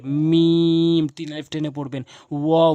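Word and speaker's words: م: তিন আলিফ টেনে পড়বেন এরপর হয়েছে মিম তিন আলিফ টেনে পড়বেন দুই ঠোটের শুকন অংশ দুই ঠোট বন্ধ করে মিম তিন আলিফ টেনে পড়বেন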